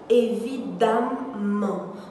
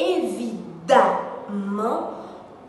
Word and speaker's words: évidemment: ses adversaires et que certaines personnes ont tendance à vouloir faire ressortir le son des deux m ils disent donc pour le moment évidemment pourtant la prononciation correcte et évidemment cool non évidemment